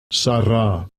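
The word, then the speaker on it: שרה: the sound of eh, and eventually it progresses to ah, because the Jews pronounce it as ah.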